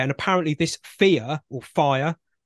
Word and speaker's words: Phia: She's also about to launch what's called FIRE, or FEAR. It's spelled P-H-I-A. It probably is FEAR, knowing the way these people's brains work.